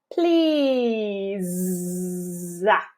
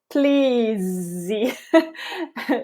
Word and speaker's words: please: of a buzzy sensation the E here is silent in both cases but we only hear a strong at the end of a word if a vowel comes next please please you get the idea